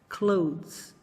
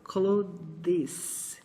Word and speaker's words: clothes: A pronúncia correta dessa palavra é assim: clothes. Clothes. É como um D que você não pronuncia completamente, seguido de um Z, de um sonzinho de Z bem levinho. Clothes. Mas não é de forma nenhuma para você falar assim, ó, clothes. Isso não existe.